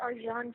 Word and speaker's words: Arcan: His name is Arjan Chetin, and he's from Turkey. Allegedly. So it's a little strange name, but it's spelled Arcan.